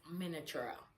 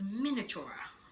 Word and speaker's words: miniature: Yeah, I tried to pronounce it the way it is being spelt, miniature. But it's miniature.